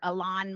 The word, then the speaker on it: Elon: So when we're talking now about these individuals, whether it's Larry Ellison's kid or Larry Ellison or Elon Musk, we've all been mispronouncing his name, by the way, it's Elon.